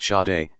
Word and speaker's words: Sade: Sade, pronounced Shah-day, is a singer.